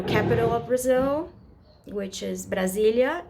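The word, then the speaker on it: Brasília: it's it's kind of it's very easy you know Brazil Brazilia Brazilia you know it's not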